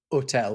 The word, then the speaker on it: hôtel: Then hotel, right, which is spelled in French, hotel with a hat on the O.